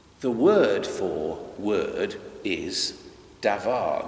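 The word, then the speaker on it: דָּבָר: Now in Hebrew, the word for word is davar. They pronounce a B as V in Hebrew, davar.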